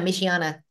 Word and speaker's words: Michiana: How do you pronounce their company? Michiana. Name? Michiana. Michigan, Indiana. Michiana.